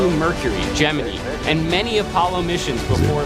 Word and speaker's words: Gemini: You can't pronounce Gemini correctly. Just read the script. Gemini. No, I know no it's Gemini.